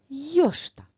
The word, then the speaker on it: йошта: йошта а тепер давай визначимо наголос в слові йошта покличемо це слово йош який звук довше чуємо о наголос у слові йо тож давай з нового рядочку запишемо це слово назву смородини йошта і поставимо наголос над буквою о став відео на паузу